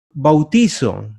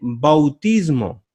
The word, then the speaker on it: bautismo: bautismo incorrectamente en sustantivo mucha gente dice bautizó no se dice bautizo se dice bautismo se puede decir bautizo pero con énfasis en la última vocal se utilizaría así